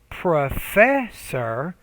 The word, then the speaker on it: professor: word stress right so when you say professor professor right so that second syllable needs to be clearer louder longer and higher pitched so you have conduct